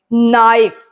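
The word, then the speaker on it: knife: थम B silent है नाइफ के साइलेंट है नो के साइलेंट है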